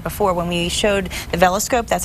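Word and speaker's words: VELscope: And I think, well, like I said before, when we showed the veloscope, that's how you pronounce it, the veloscope last time, it really, you could see it was a very simple process.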